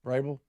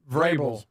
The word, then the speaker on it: Vrabel: Vrabel. Vrabel. Say it. Vable. You do you do try to get the V in.